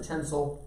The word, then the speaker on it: tensile: we just pronounce it tencel not tinsel that's what goes on the christmas tree in about three months